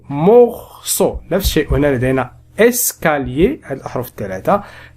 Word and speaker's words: morceau: لدينا هنا بالنسبة لهذه الأحرف الثلاثة فإنهما ينطقان معا أو morceau.